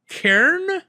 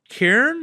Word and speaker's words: Cairn: Uh I also continued playing Karen. Karen, that is how you say that. C A I R N. I've been corrected enough times now. Karen, it's a real word.